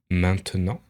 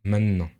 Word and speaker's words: maintenant: Par exemple, si je prends le mot maintenant, on va avoir tendance à complètement supprimer le te pour dire maintenant.